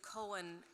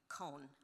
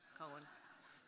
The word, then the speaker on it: Cohen: And many people say Cohen as a one-syllable name, Cone.